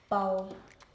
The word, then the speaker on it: bal: Spelled the same, just the only difference is ball has two L's and ball has one A, one L, and then of course the A sounds different.